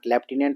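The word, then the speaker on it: lieutenant: एन ए एन टी अब याद कैसे रखेंगे लेफ्टिनेंट लिखा हुआ है लेकिन लाइ उट नां लाय उट नाट लाटेना लेफ्टिनेंट होता है ठीक है स्पेलिंग टफ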